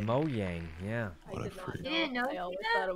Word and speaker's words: Mojang: Tina, I was Minecraft before you even knew what Mojang was. Okay, oh, Tina. That's how you pronounce it. It's Swedish, yeah, Mojang. Mojang, yeah.